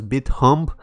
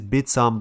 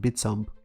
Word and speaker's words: Bithumb: bitsump south korea's largest exchange apparently it is pronounced bitsomba i initially thought it was bit hump but it's bitsam but i actually worked with a korean guy who told me it's pronounced bitsam it's the second biggest exchange in korea by